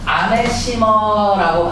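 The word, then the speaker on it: animosity: 아나 테나 봐 아나운서 되나 봐라 임마 아메시머라고 발음을 하는데요 아메시머 내 아내가 너무 싫은 거예요 그래서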